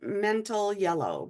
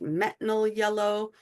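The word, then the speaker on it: metanil yellow: then you're going to counter with our favorite mental yellow, but it's actually pronounced metanol yellow. But because it's hard to keep in, some people refer to it as mental yellow.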